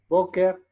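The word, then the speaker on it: בוקר: Boker, y encontramos no solamente unas, unos signos vocálicos, sino que también está un acento marcado sobre la primera sílaba, Boker Tov.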